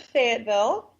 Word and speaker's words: Fayetteville: Well, we pronounce it Fayetteville.